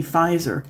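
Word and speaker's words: Pfizer: really it's like the like the chemical company fizer how the heck do you pronounce PF regardless ephemera means stuff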